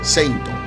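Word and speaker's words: セイント: Finalmente se le ocurrió Seitoshi, que significaba combatiente sagrado, y cuya primera parte sonaba casi igual a la pronunciación en japonés de la palabra Saint, o sea, Seinto.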